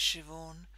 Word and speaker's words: Siobhan: It's spelt like S-I-O-B-H-A-N, which is apparently B and H in Gaelic is pronounced V.